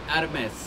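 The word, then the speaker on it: Hermès: Is it Hermes? Hermes. Exactly. H is silent.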